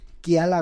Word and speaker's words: Quiala: Está con nosotros Mía Michelle Kiala Gómez, así se pronuncia bien tu nombre.